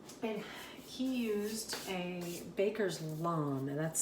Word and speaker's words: lame: that i shared and he used a baker's lawn and that's spelled l-a-m-e and it basically is one of